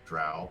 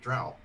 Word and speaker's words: drow: So Tin and Savannah, y'all both play Dark Elves or Drow. How do you Yes.